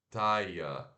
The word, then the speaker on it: tire: Mas se pronuncia T-A e curto, schwa R. A-I-O-R. I-O. Esse conjunto de sons vai fazer o som de aia, aia, aia, A-I-A, aia. Com o som de T, taia, taia.